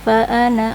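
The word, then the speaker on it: فَأَنَا: Bismillahirrahman Qul inana lirrahmani waladun faana awalulidin ananya dibaca pendek itu bacaan garibnya lanjut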